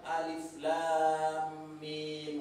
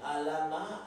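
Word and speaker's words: الم: Kusuruh membaca surah Al-Baqarah ayat 1, bukan alif lam mim katanya, alama katanya, kan gawat itu kan, alama dibaca bukan alif lam mim, ya kan?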